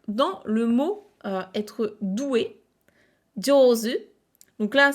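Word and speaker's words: 上手: doué, jozu, donc là c'est la même lecture jo, mais c'est quand même une lecture un petit peu particulière parce que le zu, qui est le kanji de la main, ne se prononce jamais comme ça. C'est vraiment une lecture particulière, c'est comme heta, être mauvais, c'est une lecture très très particulière dans ces deux mots-là.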